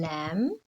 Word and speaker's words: lamb: hear them so we did the silent b or the silent b as in lamb and the silent k